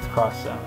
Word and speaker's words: Project X Zone: Project X Zone 2, or I call it X Zone, but it's Cross Zone.